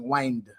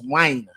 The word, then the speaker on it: wine: or your rendition I you saying wind but I think you should say wh if the end is 649 and you're refering to whne like your gy W whing your W so try not to to to to pronounce or um use the D at the end wi it's wine yeah wine 649 okay Susie